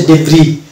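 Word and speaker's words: debris: এস এর উচ্চারণ বা প্রোনাউন্সিয়েশন আসছে না এটার উচ্চারণ হচ্ছে বোরজুয়া আর এটা হচ্ছে ডেব্রি অর্থাৎ এস কে বাদ দিয়ে আমরা শব্দটুকে উচ্চারণ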